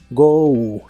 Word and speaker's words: go: de inglés es go se pronuncia como si tuviera una u al final go go y lo usas